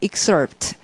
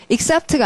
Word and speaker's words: excerpt: 그 다음에 그래서 발췌한 내용 발음하시면 excerpt, excerpt가 아닙니다. 자, 발음 excerpt, 거기 아래 들어 발음도 많이 달라지죠.